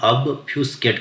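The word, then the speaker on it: obfuscate: Pronunciation मैंने इसलिए लिखा है क्योंकि इसको पढ़ना थोड़ा कॉम्प्लिकेटेड हो जाता है, तो इसके लिए हम इसे ऑब्फ्यूस्केट कहा करते हैं।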